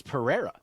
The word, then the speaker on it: Pereira: I heard Pereira, Pereira, Pereira, Pereira. And I'm like, guys, just ask him. Just like... What we know what it is. He has said multiple times it's Pereira. And He's if you like, noted, call me Pereira.